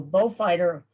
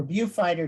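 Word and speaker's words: Beaufighter: There was either a blenum or by late 1940 increasingly the far more effective Bristol bow fighter or view fighter depending on your pronunciation are scrambled.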